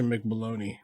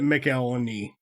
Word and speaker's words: McElhone: Yep, and that's with Natasha McBaloney. Just kidding. That's definitely how you say it. McElhoney.